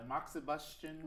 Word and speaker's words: moxibustion: to go online and Google Chinese herbal medicine moxibustion Wow I said it right well how do we spell that mo X I bu s tion smart